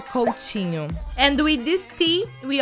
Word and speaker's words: Coutinho: letters we say and the t in portuguese especially in the south and southeast of brazil we pronounce like this like chi instead of t we say chi in general in brazil you will probably hear coaching and with this tea